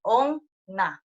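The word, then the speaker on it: おんな: Vean que la N se pronuncia doble, Onna.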